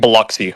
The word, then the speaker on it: Biloxi: You say it Biloxi, that's how you say Biloxi, it.